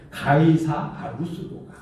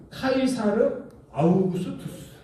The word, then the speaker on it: 카이사르 아우구스투스: 그때에 예수님께서 출생하신 그때 가이사 아구스도가 가이사 아구스도가 이건 그냥 음역한 것이지 음역한 것 원래 이제 그 발음으로 한다면은 카이사르 아우구스투스 카이사르 아우구스투스 이런 발음인데 이제 우리 성경으로 응력을